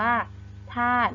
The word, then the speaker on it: ธาตุ: เต่า นะ คะ เรา จะ ไม่ อ่าน ออก เสียง สระอุ นะ คะ เรา จะ อ่าน ว่า ธาตุ นะ คะ ต่อ ไป